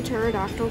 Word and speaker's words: pterodactyl: did you hear the pterodactyl going to the bathroom flies the P is silent all that stuff on my cheering like be jolly that's my wreath hello this can dr.